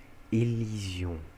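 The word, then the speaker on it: élision: não lizon é lizon elision tá vocês vão perceber que tudo sempre tá na útima na útima sílaba fta sempre tá na última tá então elision e aí vamos lá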